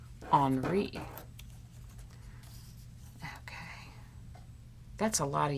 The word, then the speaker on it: Henri: many times i said henry by mistake because it's spelled like henry but in the country where he lived it was pronounced on re okay that's a lot